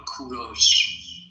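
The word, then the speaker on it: کوروش: English people call him Cyrus, but in Persian we call him Kuros.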